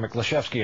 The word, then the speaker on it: Miklaszewski: his last name over at the Pentagon Jim meski on duty for us tonight Jim thanks for